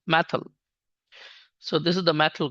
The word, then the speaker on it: methyl: methy group and uh in Pakistan and India it is uh pronunciate as methy actually it is correct pronunciation is methyl so this is the